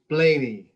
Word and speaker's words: Blaney: Ed, I can pronounce your last name, Blaney. That's right, yeah. Soft A. Blaney.